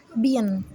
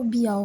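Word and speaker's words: bien: এইটার উচ্চারণ হচ্ছে বিয়ান, অনেক সময় অনেকে অ্যান উচ্চারণ করে না, তো বিয়াও বলে এটাকে।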